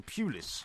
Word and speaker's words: Pulis: People are saying to me, why are you pronouncing his name Pulis as opposed to Pulis? Well, it's Pulis, isn't it? I suppose it depends.